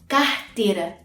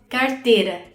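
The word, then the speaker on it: carteira: الكلمة دي مثلا انا هنطقها كاهتيرا، اتنطقت ه عادي، كاهتيرا، زي ما بننطق حرف الايه في اول الكلمة. الناس بقى في ساو باولو بينطقوا الايه اللي بيجي بعديها حرف ساكن بينطقوها ره، كارتيرا.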